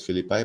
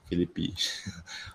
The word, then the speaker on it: Philippi: is philippi philippe philippi i like to pronounce it as philippi but okay you can pronounce it as philippe v1 totally doesn't matter to me as long as you